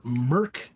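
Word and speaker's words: Mörk: you're in store for again that's Mork or Merck is how it's pronounced m-o-r-k with the umlauts Merck bore Borg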